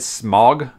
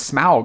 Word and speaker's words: Smaug: those years i said i said smog smog the dragon wrong and then the movie came out like i said it's desolation of smaug and i'm like i've been saying it wrong all these years so it's gonna be